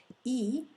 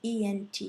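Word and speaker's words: aiment: Il ou elle, you want to see ent, which by the way is not pronounced en, but simply e.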